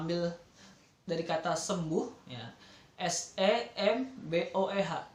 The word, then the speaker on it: SEMBOEH: Jadi untuk menuju kesembuhan, jadi kita ambil dari kata sembuh, ya, SEMBOEH. Jadi dibacanya semboeh.